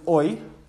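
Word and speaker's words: hoy: day is today well the word for today was oi h-o-y so let's write this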